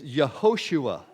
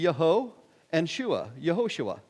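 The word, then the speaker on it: יהושע: And it's Yehoshua is how you would pronounce this word. Reading from right to left. The first letter, Yod, makes a Y sound, the one to the right.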